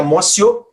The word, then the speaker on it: amotio: ó teoria da amotio eu estou escrevendo com o Ti porque é latim escreva móteo e pronuncia Márcio ou a presciência segundo